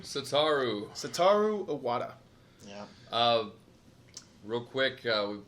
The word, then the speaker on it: Satoru: do you say his first name sitar ooh satoru iwata yeah real quick we've done this only